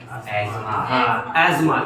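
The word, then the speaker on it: asthma: एस्मा। You remember? जिसको foreign में एस्मा बोलते हैं, अपने यहाँ अस्थमा बोलते हैं।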